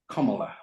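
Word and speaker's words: Kamala: 2018 and she says my first name is pronounced comma like the punctuation mark it means luxus flow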